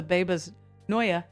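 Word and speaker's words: Bebas Neue: Maybe we should use the Babas Noya. That's how it's pronounced.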